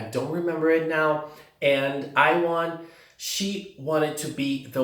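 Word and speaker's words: Aiwarn: That's actually her name, that's how it's pronounced. I was in doubt, but now it's confirmed, Iwon.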